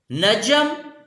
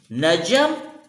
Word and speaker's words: نجم: ہو بہو اسی صورت میں موجود ہے۔ جیسے نجم، نجوم، نجم ستارے کو کہتے ہیں، نجوم اس